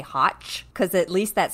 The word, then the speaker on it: Hoch: It's Hoch.